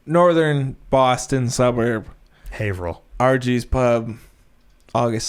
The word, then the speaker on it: Haverhill: haverhill massachusetts rg's pub let's pronounce haverhill is it it's true the only reason i know is because i played a show there one time it's haverhill haverhill but it's why he's [ __